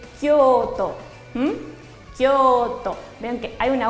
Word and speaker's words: Kyoto: Kioto, bien pronunciado en japonés, es Kyoto.